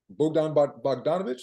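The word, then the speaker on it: Bogdan Bogdanović: But at the wing position, Bogdan Bogdanovic, is that how you say his name?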